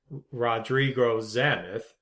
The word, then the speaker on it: Rodrigo Zamith: I I should say the proper way to pronounce his name is Rodrigo zamith my apologies for butchering